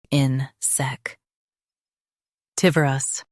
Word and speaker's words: insectivorous: in-sec tivorous insectivorous Stress tiv and keep her soft. It means insect-eating. in-sec tivorous insectivorous Stress tiv and keep her soft. It means insect-eating. in-sec tivorous insectivorous Stress tiv and keep her soft.